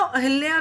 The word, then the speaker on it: अहिल्या: उन्होंने मुझे कहा है आप अहिल्या का नाम अहल्या क्यों लेती हैं, अहिल्या है नॉट अहल्या।